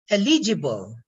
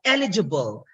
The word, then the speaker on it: eligible: a full vowel so certain poly syllables have distinctive stress patterns for those who are done with their phology you know this one just like this one elegible instead of eligible the pronunciation in the